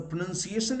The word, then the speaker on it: pronunciation: So the pronunciation is pronounced as pronunciation. And why this mistake happens? Why does this mistake happen? Because people think that this pronounce, this OU continues in its noun form, but it does not.